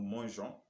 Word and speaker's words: mangeons: Donc, il faut toujours vous rappeler que nous devons avoir le E pour pouvoir prononcer le verbe comme J. Protégeons, nous protégeons, vous protégez. Nous protégeons, nous mangeons, nous voyageons, nous nageons.